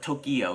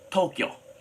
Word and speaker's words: Tokyo: And we say Tokyo has two syllables, by the way. It's not Tokyo, it's Tokyo. So inside Tokyo, Now I'm saying it right.